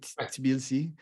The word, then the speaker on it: Tbilisi: pronounce, like T and B, Tbilisi.